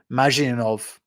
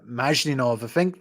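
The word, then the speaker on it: Mashyanov: Yeah, Mazhinov. I think that's how you pronounce his name, Gennady Mazhinov.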